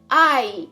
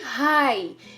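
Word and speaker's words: hay: और ए के आई अब हम इसको ह नहीं बोलेंगे एच हमें साइलेंट होता है स्पैनिश में इसको पढ़ेंगे आई ना कि हाई के आई दे नुए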